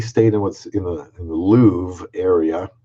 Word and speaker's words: Louvre: Man, the walk from we stayed in what's in the Louvre area, Louvre. They pronounce it Louvre.